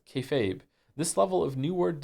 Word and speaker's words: kayfabe: Kefabe is pig Latin for be fake refers to essentially treating a bit you're doing that everyone understands as fake as real to facilitate the bit and is pronounced kayfabe this level of new